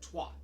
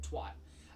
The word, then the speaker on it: twat: So so we here in the United States we usually pronounce it twat. Right. Right, the word twat. But the UK it's twat. Twat. It's more like twat. Like it's not like we say twat like a TWOT, spelled TWAT, but it's more like twat instead of twat.